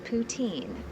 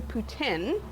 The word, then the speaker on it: poutine: a Canadian classic but what exactly is poutin it's actually poutin oh I've been pronouncing it wrong I'm sorry um and